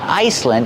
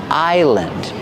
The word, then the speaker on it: island: Remember, the S is silent. It's not Iceland, it's island.